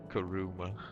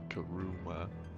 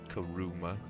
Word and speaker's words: Karuma: pronouncing my names karuma you don't have to put so much emphasis on the U Kum put emphasis on the a people kill me when they pronounce my name like that karuma like I get it